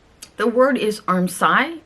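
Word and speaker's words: armscye: y e it's pronounced armi like arm sigh or also the S can be pronounced as a z so arm z a lot of times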